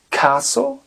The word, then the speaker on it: castle: seat belt donc fasten le T ne se prononce pas on a le château Castle Castle siffl se dit whistle